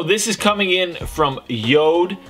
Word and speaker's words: Jord: So, this is coming in from Yod. I know it looks like Jord, but it's pronounced Yod.